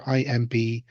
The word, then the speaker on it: Imbolg: Now, the one that my partner Lora leans on most for an explanation is that the latter IMBOLG, which is Imbolg as in in the belly and that refers to pregnancy.